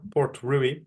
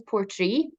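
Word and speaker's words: Portree: getting the the P Port ruy ruy is that how you pronounce it um so I I pronounce it as Port Tree Port tree sorry Port so um it does look like Port ruie but um it's Port Tre so the town in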